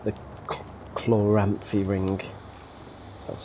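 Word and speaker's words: Chloranthy: if you're familiar with Souls it's like the Chlor rampy ring that's how you say it uh you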